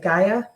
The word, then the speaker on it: Gaia: So that's Pure Voice of, I don't know how you pronounce that, Gaia? Pure Voice of Gaia. Gaia okay.